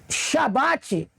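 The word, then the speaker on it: שבת: significado da palavra entende por que que a palavra shabbat é a correta não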